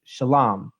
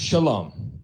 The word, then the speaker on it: shalom: Now, Carozza makes the assertion that the proper pronunciation for peace in Hebrew is shalom.